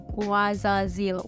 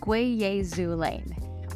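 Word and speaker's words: guaiazulene: Now the key ingredients in this oil are, of course, the blue lotus oil, mokate oil, and guazazil oil. It's actually pronounced Guayazulane.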